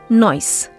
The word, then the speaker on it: noise: word pronounced as noise it should actually be pronounced with a Zed sound noise not noise measure not measure in